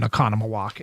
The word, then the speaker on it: Oconomowoc: Laura, apparently they have a cabin in Oconomowoc and sent me she happened to be listening and sent me that it's an easy pronunciation and spelled it out.